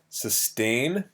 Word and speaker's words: sustain: again you pronounce it sustain um and uh so aim not in or anything ain is how you pronounce it like the english letter a sustain uh in spanish